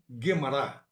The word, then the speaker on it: Gemara: A pronúncia Kabbalah, com a última sílaba tônica, vem da sua origem hebraica, que também tem o acento tônico na última sílaba. Assim também Mishnah, Gemara.